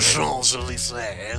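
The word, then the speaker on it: Champs-Élysées: I was just going to say, get this guy with his fucking French pronunciations of Champs-Elysees. Yes. Well, you've got to pronounce it correctly, haven't you? Champs-Elysees.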